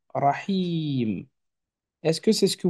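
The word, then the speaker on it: الرحيم: Ensuite, on a le Ha avec le son I, cette fois-ci, Rahi, mais vient juste après un ilon. Rahi. Attention, le ilon, il est comme ça quand il est à la fin. Or, là, on est d'accord qu'il est pris en étau entre le Ha et le M. Donc, logiquement, il va s'écrire comme ceci. Rahim.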